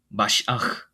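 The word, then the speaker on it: מָשִׁיחַ: 원래 발음으로는 이제 크리스토스. 히브리어로는 뭐라고 합니까? 마시아흐.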